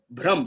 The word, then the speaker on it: ब्रह्म: आपकी ब्रह्म शक्तियां, देखिए दो शब्द है, एक दोनों ही हिंदी के हैं, थोड़ा प्रोनाउंसिएशन में थोड़ा सा आपको फर्क नजर आएगा। एक है ब्रह्म, भ्रम, भ्रम, भय, भ्रम, भय में ऐसे मात्रा और भ्रम। एक है ब्रह्म, भय से शुरू होता है, एक है ब्रह्म।